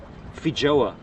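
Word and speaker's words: feijoa: i i never knew that about cognac it's pronounced fijoa it's a fruit fijoa okay fijoa i've never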